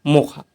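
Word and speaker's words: Mocha: मोचा नाम दिया था यमन ने और इसका उच्चारण किया गया मोखा।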